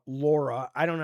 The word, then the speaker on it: Lara: The Brits always get mad. They're like, "You Americans don't know how to say it. It's l a r a. It's Lara Laura."